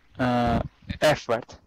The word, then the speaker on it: effort: Just the one word, and it's about the actual pronunciation was fine, but the stress was a bit off. It's not effort, it's effort. Effort.